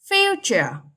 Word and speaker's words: future: Future. Straight on the first syllable.